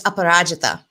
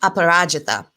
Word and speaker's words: Aparajita: But my name is Aparajita. And that's how it's pronounced, Aparajita.